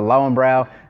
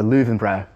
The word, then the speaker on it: Löwenbräu: He goes, all those people that say they're going to the Lowenbrau, it really sort of rubs me in the wrong way. It's the Löwenbräu. So pronounced as a V is my understanding.